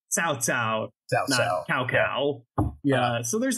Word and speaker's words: Cao Cao: like read uh but it's pronounced with kind of that TS sound so it's South sa cow cow yeah so there's not